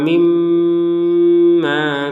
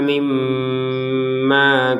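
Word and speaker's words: مِمَّا: Fa'akhrajahuma mimma kana fihi, untuk mim ada tasydidnya maka kita dengungkan, ya, mimma, dan itu harus dua harokat untuk dengungannya, jangan lebih dari dua harokat mimma, atau kurang dari dua harokat mimma.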